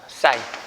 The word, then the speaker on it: sin: 그래서 빗변과 높이를 짝지은 걸 우리가 뭐라고 하냐면요, SIN이라고 일반적으로 쓰고요. 읽을 때는 사인이라고 읽어요. 사인.